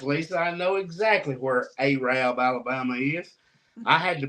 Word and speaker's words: Arab: Lori is going to try to correct me on this, and she's going to say it wrong. Lori and Cassie both, I bet you would tell me that I'm supposed to say Arab, Alabama. That is Arab, Alabama.